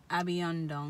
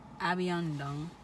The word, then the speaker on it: abion ndung: So I'm hungry is abiondong.